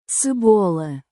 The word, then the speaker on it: cebola: They call onions cabol, Cebola. Cebola. but they spell it cebola, and in Slovenian, my language, we call it cebula, which is almost the same.